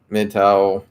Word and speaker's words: MGTOW: be interpreted and she mgtow pronounced mid-tower by adherence are likely to meet